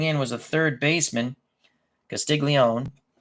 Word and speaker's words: Castiglione: was a third baseman castiglion or Castiglione that's the way you really should pronounce it that's the way they probably pronounce it in 49 maybe Andy